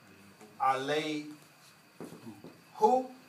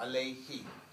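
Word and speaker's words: عليه: Instead of saying alay who, right? Change it to a kasra. Alayhi, alayhima, alayhim, alayhinna.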